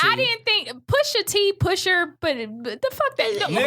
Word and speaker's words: Pusha T: First of all, y'all, I did say Pusher T. That's how you correctly pronounce it. But Pusha. I'm He sorry. spelled it with an A. Pusha. I didn't speak Black Like nigga. American. He spells it with an A. Yeah, it's Pusha T.